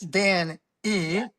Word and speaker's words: DanE: So Dane Well, well, it's it's it's Dan E, which is pronounced Dane, which is my first name and last initial because everybody goes, "What's Dane?"